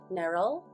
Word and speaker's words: Neryl: to repeat that my name is pronounced as Neryl. It's like Meryl, but with an N.